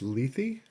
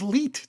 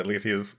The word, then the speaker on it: Lethe: So this week's episode is season 1, episode 6 of Discovery, titled, I think it's pronounced Lethe. That is correct, Lethe. Oh, I thought it was Leet.